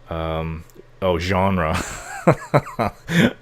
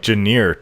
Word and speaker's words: genre: Genre. It looks like Janier to me, so I was always saying it.